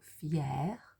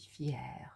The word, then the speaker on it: fière: So I would say je suis fière. You add an R, sorry, you add an E and there's an accent over the C, which changes the way that you pronounce it to est fière.